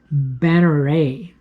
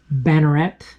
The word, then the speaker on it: Banneret: knife that I really enjoy is the savivi banneray and I know a lot of people pronounce it bannerette I've been told by French viewers that banneray